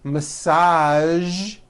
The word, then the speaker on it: massage: Now, there are only a few words that have the voiced zh sound at the end. A few of these words are the color beige, the word massage, and the word prestige.